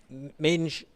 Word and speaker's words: Mendes: The last few metres for Mendes of Portugal. Jose Mendes, or Minge, is how they pronounce it.